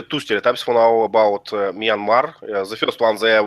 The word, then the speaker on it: Myanmar: We'll have to teach you how to pronounce. is Myanmar. Myanmar.